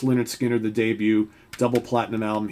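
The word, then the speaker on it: Lynyrd Skynyrd: of course we've got pronounced Leonard Skinner the debut double platinum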